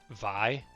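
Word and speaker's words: Vay: Okay, that makes sense cuz um that's how I feel about I think it's VI is how you pronounce it. V A Y.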